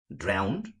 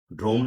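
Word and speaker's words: drowned: পাই যেমন many families ড্রাউন্ড ড্রোন না কিন্তু অনেকে এভাবে উচ্চারণ করেন ড্রাউন্ড আউট বাই the recent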